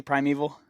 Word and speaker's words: Primeval: Is that is that pronounced correctly? Primeval.